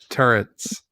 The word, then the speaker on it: turret: know okay I know I mispronounced turret turrets my whole life that I understand was a mispronunciation okay I don't know that one okay for my entire life gun like a gun turret thought T yeah t um I thought there was an n in the word I thought it